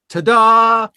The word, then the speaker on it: Tada: like you ever do you ever tell people that it's pronounced ta-dah yes no i don't